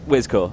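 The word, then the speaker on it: Wiszczor: It's easier than you think. It's just Wizcore. It's well, that's how I've always done it.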